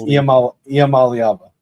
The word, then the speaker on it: Iamaleava: Although it is funny considering everything that happened with this exit from Tennessee, that you could also pronounce his last name Iamaleava. But it's Iamaleava.